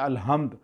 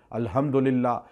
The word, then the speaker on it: الحمد: حمد اللہ کے لیے۔ آپ کہتے ہیں الحمد، اکثر لوگ تلفظ ادا نہیں کرتے، ہا نہیں کہتے، ہے کہہ دیتے ہیں الحمدللہ، اس کا معنی چینج